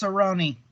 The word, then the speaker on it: Cerrone: with cowboy Cerrone Cerrone it's pronounced Cerrone the Cerrone okay so